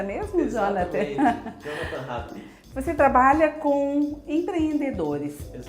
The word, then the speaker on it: Jonathan Hadlich: É essa a pronúncia mesmo, Exatamente. Jonathan? Jonathan Hadrick.